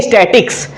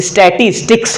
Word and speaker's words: statistics: गलत उच्चारण करते हैं लोग बोलते हैं स्टैटिक्स और आप हमेशा देखेंगे अपने स्कूल में या फिर अपने दोस्तों में हमेशा इसका गलत उच्चारण किया जाता है लोग स्टैटिक्स बोलते हैं आज से कोई स्टैटिक्स बोलेगा तो बोलिएगा भाई साहब बहन जी आप गलत बोल रहे हैं क्योंकि इसका उच्चारण जो होता है वो स्टेटिस्टिक्स होता है तो हम उच्चारण के